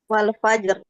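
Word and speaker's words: والفجر: kita waakaf di sini rnya sukun sebelumnya sukun sebelumnya fathah maka rnya dibaca tebal tebal Mana bacanya Wal fajaraj Ah gitu ya Nah Wal Fajr seperti itu nah kira-kira teman-teman yang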